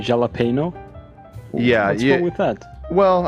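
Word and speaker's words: jalapeño: here you go so the J in Spanish is pronounced like an H in English so it's like not Jello jalapeno okay Swedish that's actually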